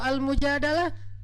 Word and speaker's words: Al-Mujadalah: Kalau Al-Mujadalah, curhat. Jadi tergantung kita bacanya dilah atau dalah. Kalau kita baca Mujadilah, berarti perempuan yang lagi curhat. Kalau kita baca Al-Mujadalah, berarti curhat itu sendiri.